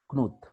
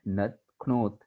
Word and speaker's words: Knuth: So this program was created by Donald Knuth in 1978. It is pronounced as Knuth.